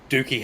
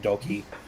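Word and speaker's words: Douki: heavyweight title now with Dookie having been champ. I know that it's pronounced Doki, but I think it's funny to call him Dookie, so I'm going to keep doing it.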